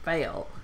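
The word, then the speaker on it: Phai: That's his real name, Fail. It's spelled P-H-A-I.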